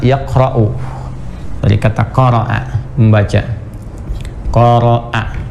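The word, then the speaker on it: قرأ: Qara'a, ingat bacanya qara'a, bukan corona.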